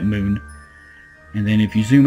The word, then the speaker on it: Mun: This is the moon, or mun, however you want to pronounce it. I'll probably be pronouncing it moon.